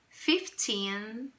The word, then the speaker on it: fifteen: segunda sílaba né certinho então Observe que eu tenho aqui a o som da palavra fifteen indicação da sílaba tônica por um apóstrofo e Cia a sílaba tônica Ok então atenção para